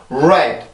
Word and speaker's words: red: 아 이렇게 발음이 되는데 음절의 시작할 때는 항상 red 입술이 이렇게 나오고 나서 red, red, red 이렇게 해서 발음이 돼요.